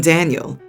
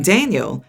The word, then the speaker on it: Daniel: Ever since he was born, she's been calling him by the Spanish pronunciation of his name, with an emphasis on the end. Kinda like Daniel instead of Daniel like I imagined.